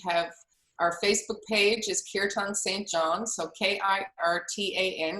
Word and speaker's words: kirtan: our facebook page is kirtan st john so k-i-r-t-a-n it's protect it's pronounced kirtan there's no accent on one or the other here tan um so